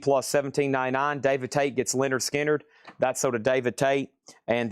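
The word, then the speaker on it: Lynyrd Skynyrd: Leonard Skard pronounced Leonard Skard a VG copy.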